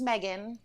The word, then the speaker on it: Meaghan: spelled miegen it is it's like the most Irish way you can spell or technically pronounce that name yes right um but it is just Megan just putting it out